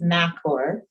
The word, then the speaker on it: Macor: I will say one of their representatives have told me that it's Macor from, after Mac, Oregon.